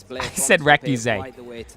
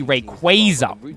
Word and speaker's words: Rayquaza: I said Recuse.